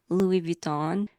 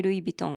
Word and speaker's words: Louis Vuitton: In America, I usually hear people say Louis Vuitton. So, in Japan, we say Louis Vuitton. Louis Vuitton.